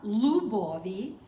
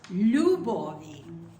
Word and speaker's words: любові: It's important to make the L a liquid L. Not любові, it's любові. Do you understand the liquid part of the L? I don't know how else to explain it. It's You put a Y after the L, it's You.